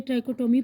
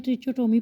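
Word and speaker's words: trichotomy: Properties of in equalities में हमारे पास सबसे पहली है ट्राइकोटोमी प्रॉपर्टी। बाज़ लोग इसको प्रोनाउंस करते हैं ट्रिचोटोमी प्रॉपर्टी।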